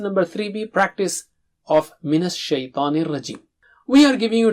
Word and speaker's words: شَيْطَان: Minas Shaitanir Rajim. We will continue with the remaining part. Shaitan. Don't say shay. Okay, it is shy. Just like in English, you say shy person, a shy person, shy.